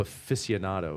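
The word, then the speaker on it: aficionado: Big I'm like a boat show afficionado. Is that a word? Yeah. Afficionado. Afficionado. I'm an arid afficionado. Afficionado. Oh, I see. So, that's how you say it.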